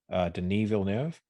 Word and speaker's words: Denis Villeneuve: It's I think you pronounce his name Denis Villeneuve.